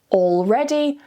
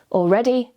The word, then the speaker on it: already: taking an English exam, you'll want to pronounce the L quite clearly. So saying already, almost, and always. However, in fast, natural, casual everyday conversations, it's completely fine to relax a little and remove the L and say already, almost, always.